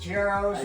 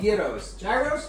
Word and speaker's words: gyros: I'm sure you had the best geros. I'm sure yos. Yos. Geros. Called gyros.